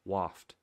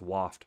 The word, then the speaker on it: waft: of people saying waft it's pronounced waft like wafting in the air so hopefully that helps you guys out and anybody else watching the video it's waft wafting anyways attacks triggered